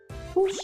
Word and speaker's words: push: We cannot pronounce these words with the long oo sound, like moon and soon. We need a different sound. We need the short sound like good and book.